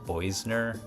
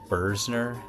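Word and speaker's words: Boesner: The other one was the art store we went to, and even in the video I think I said Boisner. I think that's supposed to be pronounced Bursner.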